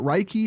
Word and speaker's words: Reiki: I say that right is it Reiki Master is it rikey yeah how do you say that it's Reiki you got it right I did good huh